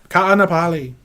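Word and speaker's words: Kāʻanapali: Ka'anapali.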